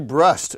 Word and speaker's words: Brust: none other than brust it rhymes with the trust that's the good naman